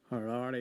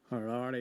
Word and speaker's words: Harare: over to Gordon in Aberdeen for the correct-ish pronunciation. Take it away, Gordon. Harare, you daft faker. Sorry, what was that? Harare, you daft faker.